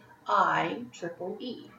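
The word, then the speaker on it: IEEE: for Electrical and Electronics Engineers pronounced I Triple E they've developed the software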